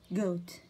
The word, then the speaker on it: goat: goat goat goat. G O A T goat. معز ال O هذه long طويلة. ال A هذه silent ما تنطق.